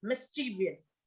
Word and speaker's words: mischievous: most of you okay so it's right it's mischievous okay that you can say pronunciation of that mischevous so we cannot say